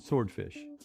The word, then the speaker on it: swordfish: Yeah. W is silent. Swordfish.